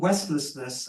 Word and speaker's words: Westless: I wrote a book it's called wless and the key is the second syllable is less so it's not none of the West it's not collapse of